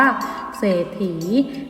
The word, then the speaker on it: เศรษฐี: เมื่อ สาระ อีน่า คะ อ่าน ว่า เศรษฐี มี 2 พยางค์ ก็ มี ขีด ตรง กลาง ด้วย นะ คะ หาก เป็น